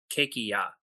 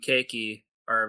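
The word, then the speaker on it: ケーキ屋: And cake shop is cakeya. Kia is spelled K E K I Y A.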